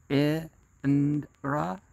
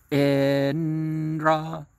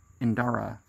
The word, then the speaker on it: Indra: Indra must be pronounced trisyllabically. Indra. You can do that. Indra. Without adding that Indara for some reason.